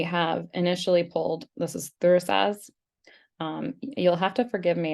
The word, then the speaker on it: Thurisaz: So I pronounce this Thursas, and I could be